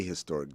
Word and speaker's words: historic: I always say a historic day because the H is not silent unless there's some core